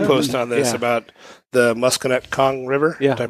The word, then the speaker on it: Musconetcong: You did a blog post on this about the Musconetcong River. Yeah. Did I pronounce that correct?